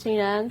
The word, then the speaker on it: Xinran: everyone my name is Shan for those of you who don't not pronounce my name I know many are not so the x is actually pronounced like sh and yeah I'm a